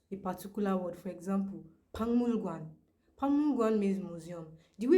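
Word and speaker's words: 박물관: But whenever they want to pronounce a particular word, for example, pangmulgwan, pangmulgwan means museum. The way it is spelled is different from the way it is pronounced.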